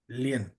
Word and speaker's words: Len: Um, is that how you uh pronounce it? Len. Len. Lean. Yes. Okay. Len.